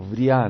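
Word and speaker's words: Beriah: El tercer mundo, Beria, o Bria, lo pronuncian algunos.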